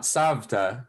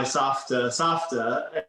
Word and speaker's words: safta: Curious why you call it safta and not savta, given that in Hebrew it's spelled with a vet, not a peh.